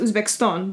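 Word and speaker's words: O'zbekiston: It's supposed to be pronounced Uzbekistan, but I know that a lot of people aren't capable of pronouncing it that way, so Uzbekistan is just fine.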